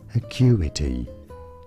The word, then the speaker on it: Acuity: But we have Lake Acuity. I'm not actually sure how to pronounce that. In British English, this is said as Acuity.